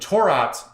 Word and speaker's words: Torah: is actually taurat and taurat is the Aramaic pronunciation of Torah mm-hmm they had a